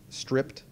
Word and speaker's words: stripped: download the stripped bsa i know it says striped it's pronounced stripped just deal with it and we need